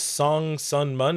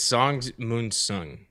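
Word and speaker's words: Sung-mun Song: JR says Song Sun Mun. Am I doing it? Did I say it wrong? I think it's Song Moon Sung.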